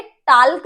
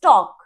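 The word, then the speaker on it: talk: TAL के टाल्क नहीं है, इट्स टॉक।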